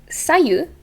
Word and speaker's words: Sayu: and simple uh again the intonation doesn't have to be in the second syllable if it's anywhere it's the first and it's going to be sayu and i looked up